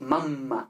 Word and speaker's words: mamma: Es mamma, ¿no? Con esta M larga, esta M que parece doble, ¿no? Entonces, mamma. Estas consonantes se escriben geminadas, se escriben dobles, se escriben dos, porque se pronuncian dobles, ¿vale?